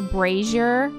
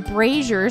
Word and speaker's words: brazier: and always said braier then I found out it's actually brazer so I'd been calling